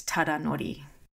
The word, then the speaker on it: Tadanori: And his first name is Tadanori.